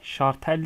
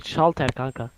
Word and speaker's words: şalter: Şartel değil miydi? Şalter. Öyle öyle diye söyleniyor ama. Şalter. Şartel lan. Şartel. Hayır şalter kanka. Normalde öyle okunur.